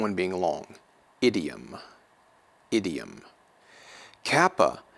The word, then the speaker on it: kappa: Kappa is going to be pronounced like the English K, as in kraken, kraken.